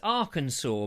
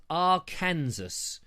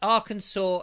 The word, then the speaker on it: Arkansas: It's Arkansas, but I read it, as I often do. I make this mistake. I read it as Arkansas, because, you know, that is how it is spelt. But Arkansas is how it's pronounced.